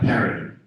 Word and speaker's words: Phiri: But just to help you understand it, it's H-E-R-I, P-R-I, pronounced like Perry. So not Phiri, but Perry. People say the PH, but But that's all right.